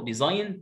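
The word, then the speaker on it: design: اسمها اجنور. ايه ده يا مستر؟ ما انت الجي فوق سايلنت وراها ان، ليه هنا قريناها؟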